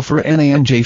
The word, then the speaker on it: Fernandes: His name is pronounced as Bruno Mig-el. Fer-nanj fans admitted they had